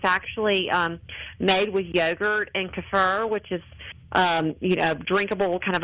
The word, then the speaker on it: kefir: It has fresh coconut, mango, pineapple, and then you get all that nutritious dairy because it's actually made with yogurt and kefir, which is drinkable, kind of a pourable consistency